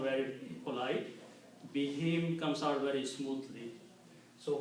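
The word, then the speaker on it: بهم: Be him comes out very smoothly. So we just for the tajweed reason, we pronounce whom as him and also write down as him.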